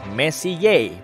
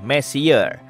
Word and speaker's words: Messier: Diucapkan Messier, bukan Messier, yang artinya lebih berantakan.